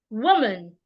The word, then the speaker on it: woman: pretty not pretty pretty another example is woman woman woman is a two syllable word and it's a noun so I'm going to stress the first part woman not woman woman woman another example